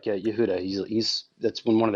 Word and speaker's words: Yehuda: pronounce the name yes I thought it was like oh I'm just pronouncing it like phonetically or whatever just the way it's spelled it's Yehuda so yeah so basically um